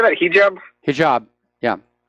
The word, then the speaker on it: hijab: I just wanted to mention that regarding the hijab, or how do you say that, hijab?